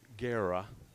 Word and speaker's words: Guerra: Coach Guerra, and by the way, we're pronouncing his name, or I was pronouncing his name wrong last week. The new coach for the Bulldogs, Alex Guerra, is the proper pronunciation.